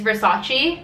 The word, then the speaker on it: Versace: the next word is Versace like Vace Vace medus head like verace verace Vace Vace you the Drake song No Toronto oh damn okay Versace Versace verace Versace guys not CH verace the next one is